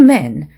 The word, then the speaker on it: men: 1명일 때는 좀 찢어지는 발음 a man 이렇게 해주시고 2명 이상일 때는 man, two men, three men 이렇게 좀 더 짧게 발음을 해주시면 되겠고요.